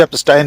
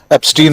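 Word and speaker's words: Epstein: जिसे वे कह रहे हैं इन फेमस मिस्टर जेफरी एस्टाइन। आपने ठीक कहा उच्चारण। राहुल गांधी ने भी एस्टाइन ही कहा था। हम लोग भारतीय लोग उसको एस्टीन ही कह रहे हैं।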